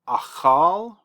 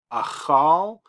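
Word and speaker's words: אכל: It's harder than an H. It's softer than a K, somewhere between those two.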